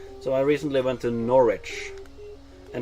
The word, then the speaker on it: Norwich: I recently went to Norwich and it's like why is there a w in Norwich it was it probably used to be pronounced like norwitch because of like the